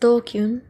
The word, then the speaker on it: DQN: DQN, pronounced dokyun, used to refer to people who are stupid, antisocial, or delinquents.